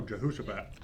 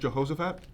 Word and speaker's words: Jehoshaphat: Oh, Jehosaphat. Oh, is it Jehoshaphat? Yeah, but maybe said it wrong.